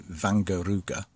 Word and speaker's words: Wangerooge: to the passing loops my pronunciation was all wrong a closer approximation to the correct pronunciation would be van Gogh Ruger and it's the name